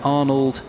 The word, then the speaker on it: Arnold: They've uh switched races and brought a different car which is number 37 Arnold Herman. I think he pronounces it Arno when he told me yesterday, but it's spelled Arnold.